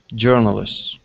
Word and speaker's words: journalist: journalist okay right here instead of saying J journalist the O Ur is an eer sound jur journalists okay journalists uhhuh very good uh